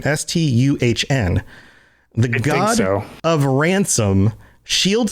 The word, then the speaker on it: Stuhn: worshipped as Stun, and I believe it's pronounced Stun, Stuhn, the god of ransom, shield thane of shore.